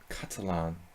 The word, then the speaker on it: Catalan: Catalan. Say it like a Spaniard.